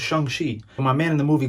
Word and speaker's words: Shang-Chi: And don't be like me and mispronounce it at first, okay? It's Shang-Chi.